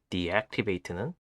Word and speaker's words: deactivate: 예를 들어 비활성화하다라는 의미인 deactivate는 악센트가 두 번째 음절에 있기 때문에 첫 음절을 D로 발음합니다.